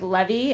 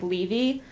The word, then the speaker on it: Levy: name as me, except he pronounces our last name like Levy, and I pronounce it like Levy.